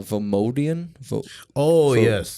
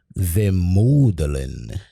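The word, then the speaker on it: vemodalen: It would be pronounced, I think they said it is this is a Swedish word. You ready for this one? Vemodelen.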